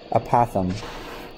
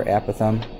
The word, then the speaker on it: apothem: that in a minute now let's talk about apothem or a Pithom i've heard it pronounced both ways so i'm going to